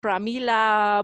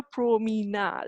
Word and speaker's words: Promina: couldn't like people didn't could not pronounce it properly it was always like pramila promona it was never pro meena like you know it's